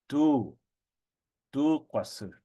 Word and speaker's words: tu kwasu: But when you prefix it onto an article of the clothing, it shortens to just tu kwasu, and you lengthen that u sound.